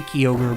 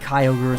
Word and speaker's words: Kyogre: Is it Kyogre or Kyogre? I say Kyogre, but I think Kyogre is supposed to be how it's pronounced.